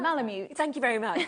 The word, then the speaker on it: Malamute: So this one is the Alaskan Marmaloot, is that how you pronounce Malamute.